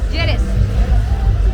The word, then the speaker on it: Lleras: Lleras.